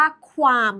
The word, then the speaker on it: qualm: เมื่อ สัก ครู่ นี้ c a LM อ่าน ว่า คาม เช่น มหาสารคาม แต่ คำ นี้ อ่าน ว่า ความ แล้ว ความ หมาย มัน ตรง